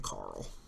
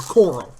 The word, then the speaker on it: Coral: And then we got the Storm Tunnels, Kaibon's Mechblade, and Ganem, another Marillion Carl. Or Coral, is pronounced.